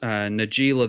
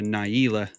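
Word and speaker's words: Najeela: I think I pronounce Nagila the blade blossom incorrectly I pronounce her Naylor on my channel and apparently she's actually based on a real a real name that name is from Arabic I think oh and it's pronounced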